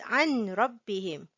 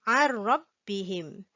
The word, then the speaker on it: عن ربهم: We do not pronounce it as عن ربهم. We silent the nun sound, the n sound. We pronounce it عن ربهم.